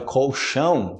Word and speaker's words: colchão: começou do nada eu tento a minha palavra colchão que vocês falam esse maior colecione ele corre